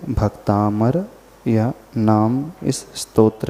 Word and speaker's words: भक्तामर: पड़ा है है तो जो लोग भी इसका उच्चारण भक्तांबर करते हैं अथवा उनकी जुबान में बैठ चुका है वे सभी लोग अपने उच्चारण को सुधार लें है क्योंकि को देखेगा वह यही कि भक्तामर लिखा है लेकिन जिस बारे में